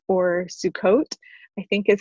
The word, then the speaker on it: Sukkot: 2nd through 9th was this it's also called sukkat or sukkot i think is how you pronounce it and it is a festival that